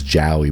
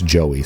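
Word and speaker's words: Jowy: who I actually I pronounced in my head the entire game as Ji, but I guess other people online say it's Joey, so we're going to say Joey.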